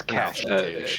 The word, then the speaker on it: cache: Just like the Americans complain about how we spell cache, like, or was it pronouncing cache? I can't remember. It's cash.